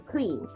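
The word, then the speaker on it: Krīm: Realms of various deities the Kali biha is clean it sounds like cream k-r-e-e-m that's what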